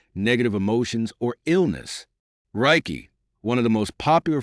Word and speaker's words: Reiki: Reiki, pronounced Reiki, is a Japanese healing technique developed in the early 20th century by Mikao Usui.